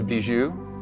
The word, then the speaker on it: Bijou: His name is Bijou. It's pronounced Bijou.